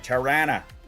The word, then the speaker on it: Tirana: That's right, Tirana. That's how it's properly pronounced.